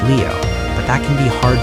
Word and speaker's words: Liu: I personally don't care because technically the right way is Leo, but that can be hard to pronounce.